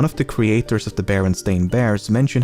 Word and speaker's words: Berenstain: creators has said that barely anyone pronounced it correctly when he was growing up and he was most frequently called Berenstein or Bernstein fourthly the cartoons use an ambiguous